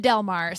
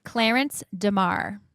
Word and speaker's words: Clarence DeMar: calling him Delmar, so it's not that Delmar. So it's it's it's Pronounce it correctly for me. Clarence DeMar.